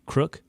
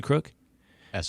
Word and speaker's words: Crooks: know yet about um I keep getting his name wrong Thomas Matthew crook Thomas Matthew crook s on the end Crooks heg Seth said why